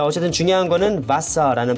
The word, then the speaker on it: Wasser: 자 어쨌든 중요한 거는 바사라는 발음이 중요하고요.